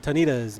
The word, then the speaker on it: Tonita's: We are at the restaurant here in Pocola, Tonita's Mexican Grill. Is that how you say it? You said it right this time.